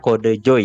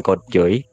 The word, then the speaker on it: kodejoy: Dan juga Twitch username-ku dibacanya Kode Joy ya, guys ya, bukan Code Joy gitu.